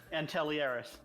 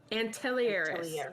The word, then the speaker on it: Antelieris: Antelieris. Antelieris.